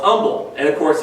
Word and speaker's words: Humble: was no longer dun's Prairie it now it's Umble and of course it's s you don't say